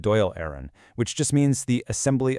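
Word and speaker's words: Dáil Éireann: They called it Doll Aaron, pronounced Doyle Aaron, which just means the Assembly of Ireland.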